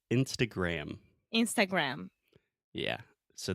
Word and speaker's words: Instagram: So the most important thing here, Alexia, você sabe o que é? Gram. Uhum. Aham, o M no final que você tem que fechar a boca. Isso é a minha namorada. So Instagram, close your mouth.